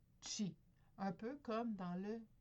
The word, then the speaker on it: qi: Donc le chi qui se prononce, mais pas qui se prononce, excusez, qui s'écrit soit K-I ou Q-I, chi.